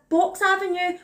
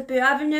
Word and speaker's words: Boux Avenue: The whole video I mispronounced it as Boux Avenue, which might be very Scottish, which is very stupid of me. Actually, obviously Boux Avenue.